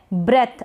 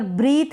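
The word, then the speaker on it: breath: फिर है ब्रेथ। अब यहाँ पर ब्रीथ नहीं पढ़ेंगे, इसको पढ़ेंगे ब्रेथ। यहाँ पर प्रोनाउंसिएशन मैंने बता रखा है ब्रेथ।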